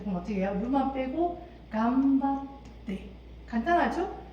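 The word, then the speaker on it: 頑張って: 루만 빼고 간바떼. 간단하죠? 발음 어떻게 한다? 약간 때로 발음하셔야 돼요.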